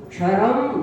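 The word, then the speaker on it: क्षरं: अर्ह नित्य क्षरम ब्रह्म, अर्ह नित्य क्षरम, छा छतरी का नहीं है, क्षा क्षत्री का।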